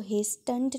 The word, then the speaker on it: hastened: And hastened, आपने इसको hastened नहीं बोलना बेटे, इसमें टी साइलेंट है।